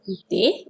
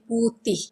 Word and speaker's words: putih: So white is putih. Actually the real pronunciation will be putih. But when we speak, we say putih.